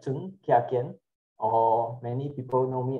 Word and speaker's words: Ch'ng Kiah Kiean: My name is Chung. Pronounced is Chung Kiah Kiean, or many people know me as.